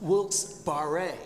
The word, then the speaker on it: Wilkes-Barre: His name, by the way, was Isaac Barre. He was a Frenchman. It should be pronounced Wilkes-Barre.